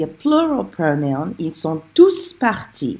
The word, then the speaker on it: tous: Ils sont tous partis. And that's when I pronounce the S on TOUS, when it's a plural pronoun.